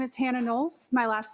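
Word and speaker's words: Knowles: My name is Hannah Nolles. My last name is spelled K N O WLE S.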